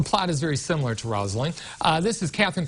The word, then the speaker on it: Rosaline: I've been saying Rosaline this whole time. It's Rosaline. Rosaline.